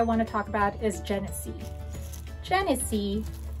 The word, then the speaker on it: Genicci: Europe for, because they make it for Genicci, pronounces it Genicci.